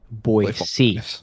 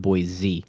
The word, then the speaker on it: Boise: and band no it's boy c it's boy c not boy z yeah i'm gonna stick